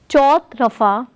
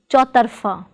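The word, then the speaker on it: चौतरफ़ा: Note, it is not chautrafa but chautarfa. Note the difference between the two, chautrafa and chautarfa.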